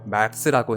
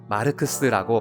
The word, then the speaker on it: 마르크스: 당시에 북한 간부라면 말스라고 해야지 마르크스라고 발음하는 건 북한 사람이 보기엔 어색한 점이라고 하네요.